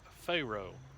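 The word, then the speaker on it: Fero: m692 has just cleared pharaoh and it's spelled f-e-r-o uh but everybody i've ever known that lived around here always pronounced it uh pharaoh like the egyptian pharaoh and that coal train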